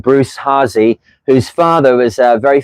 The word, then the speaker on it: Hasse: up there Rudy Hassey Hassey is how you pronounce it and he collected a massive library of sailing books and then I got donated them by his son Bruce.